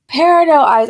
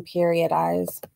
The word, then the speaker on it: Peridot Eyes: Peridot eyes. I used to say their name wrong, you guys. Whenever they would comment, I used to call them period eyes.